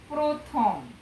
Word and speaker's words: প্রথম: এবার পাঁচ নম্বর দেখো র ফলাযুক্ত আদ্য অ এর উচ্চারণ ওকারের মতো হয় যেমন প্রথম হ্যাঁ এখানে আমরা লিখিত